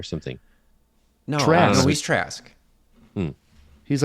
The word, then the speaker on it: Trask: No, Bolivar Trask. Oh, He's you're like the- right. He is Toad. Trask. He's Toad or something. No, Trask. no, he's Trask.